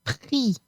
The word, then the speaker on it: pris: Prendre will become pris. J'ai pris le bus. I took the bus. Here too, the S is silent.